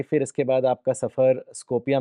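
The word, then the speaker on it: Skopje: अगला सफर हमारा इसको स्को पिए स्कोप जे को वाई पढ़ते हैं तो हम लोग जरा मिस प्रोनाउंस करते हैं वैसे स्कोपी है ये तो यह मेसेडोनिया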